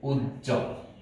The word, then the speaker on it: উজ্জ্বল: বর্ণের সাথে বফলা আছে, যুক্ত বর্ণের সাথেও যদি বফলা থাকে তাহলেও সেই বফলার উচ্চারণটি হবে না, কিন্তু শব্দ যেরকম আছে ঠিক একই রকম থাকবে, দ্বিত্ব হবে না।